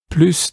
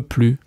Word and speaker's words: plus: Yes, sometime, but je n'en peux plus. I don't want anymore. I cannot anymore. Je n'en peux plus. You have the difference between more and anymore. So more, that you have to pronounce the S, and anymore, no more